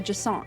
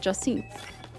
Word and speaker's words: Jacinthe: I've learned it's actually Jacinthe is how you pronounce her name. Not Jacinthe. Jacinthe.